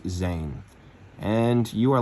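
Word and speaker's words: זין: they are called weapon which in hebrew is pronounced zane and you are like the letter noon which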